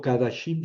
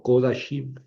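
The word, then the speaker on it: קֳדָשִׁים: Ah, bueno, en este caso no leo kadashim, sino kodashim.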